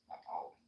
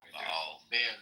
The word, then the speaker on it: Baal: Baal. You guys pronounce it differently. Baal. It's pronounced Baal. In Hebrew, yeah. We pronounce it Baal.